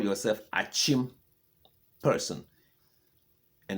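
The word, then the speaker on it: Akyem: You see, the white man say, this is Akim. You call yourself Achim person. And the white man said, that is Akim for me. And you, when he left, you continue calling your town Akim, Akim Oda.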